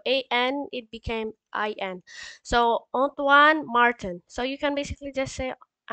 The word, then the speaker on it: Antoine: So the pronunciation for it is on, like A-H-N, Tuan. So like Antoine.